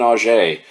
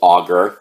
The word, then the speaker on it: Auger: and that is Claudine O'Shea or maybe it's pronounced auger it's it's spelled like auger AUG ER but being that she was a French woman I think the correct